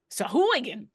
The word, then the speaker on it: Sahuagin: But as far as the D&D Beyond, the official Sahuagin. The only way I remember how to say it is by saying Sheboygan first.